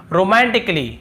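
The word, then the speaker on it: romantically: और फिर देखिए रोमांटिकली, रोमांटिकली, यहाँ पर भी देखिए ए का उच्चारण नहीं हो रहा है।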